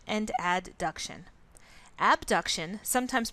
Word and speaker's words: abduction: class and you're probably familiar with the terms abduction and adduction abduction sometimes pronounced a B duction for the sake of